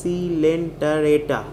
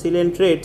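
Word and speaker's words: Coelenterata: word silent arrata pronounce is pronounce it as c lenta reta if you pronounce it as silent rates then you will get the spelling wrong it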